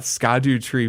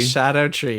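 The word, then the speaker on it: Scadutree: Shadow tree. Crazy. Right. This is something that I'm sure a lot Right. of people have learned, but it's the Scadu tree, and this is like an old English pronunciation, Right.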